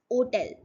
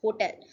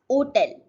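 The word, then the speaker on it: hôtel: It's hotel. So in English we pronounce it as hotel, but in French we pronounce it as hotel. It's hotel.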